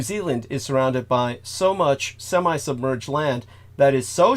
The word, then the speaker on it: Mu: religion, they referred to as Mu, M-U, but it's pronounced more like Mu.